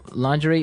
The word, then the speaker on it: lingerie: Now, the spelling of this word is interesting, isn't it? Yeah, it's spelled l i n g e r i e. Lingerie. Lingerie. Yes, don't you love English spellings?